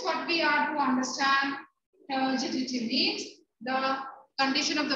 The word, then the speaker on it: turgidity: Ma'am, could you pronounce this word after provides? Provides. Turgidity.